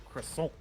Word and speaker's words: croissant: But so, for instance, the word croissant Yeah, in English is pronounced croissant, and that is Yeah. correct. right? Sure. In French, it's pronounced croissant or or something like that.